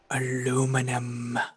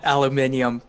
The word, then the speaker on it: aluminium: was going to say i'm going to pronounce it in the way that all of you hate aluminum see i i have the fun of of when i'm talking actual science i call it aluminium but when i'm like